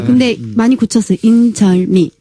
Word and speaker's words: 인절미: 그리고 리을 발음. 예를 들면 인절미.